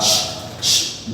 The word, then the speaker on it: watched: And if I have WATCHED, this is pronounced as watched.